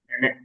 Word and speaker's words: nenek: Nenek.